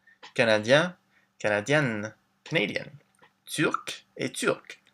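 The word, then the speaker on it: turque: Turc et turc. It's the same pronunciation, but a bit of a different spelling.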